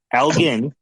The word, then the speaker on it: Elgin: Because so it's Elgen because I'm Canadian, right? So we pronounce things a little bit differently.